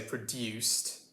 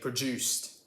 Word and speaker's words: produced: how posh you are more posh people would probably say produced with a clear dew sound and you know us plebs would say produced with a ja so uh what does what does this factory produce what does this factory produce that's the way that a brick would say it how would you say it ah you're right we would say produced do with a straight up o sound this is similar to